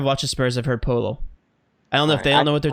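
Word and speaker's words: Poeltl: it on broadcast before it's polo and I've heard it many times dude I don't know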